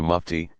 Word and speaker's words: mufti: capacity the scholar is called a Mufti pronounced nifty one who issues a